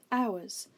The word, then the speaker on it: hours: the version we need has a silent letter at the beginning the letter h like this we pronounce it exactly the same hours but it has the